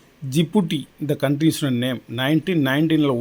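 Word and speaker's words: Djibouti: இந்த எழுதி இருக்கு பாருங்க இந்த டிய வந்து நீங்க உச்சரிப்புல விட்ரனும் நம்ம ராமர்னு எழுதினா முதல்ல இ போடுறோம்ல இலங்கைன்னு எழுதினா முதல்ல ஸ்ரீலங்காவுக்கு லங்கா அப்படிங்கறதுக்கு இ போடுதோம்ல இலங்கான்னு அது மாதிரி இது டி விட்ரனும் ஜிப்பு இந்த கண்ட்ரிஸ் ஓட நேம்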